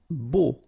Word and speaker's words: beau: Beau. Okay, so remember we've got this strange combination of vowels, E, A, U, so three vowels, but then phonetically it's only O.